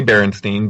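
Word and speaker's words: Berenstain: wrong because I I it just didn't look the way that it was being pronounced. And I remember being told, "No, no, we say Baronstein, but yeah, it looks like, you know, looks like this."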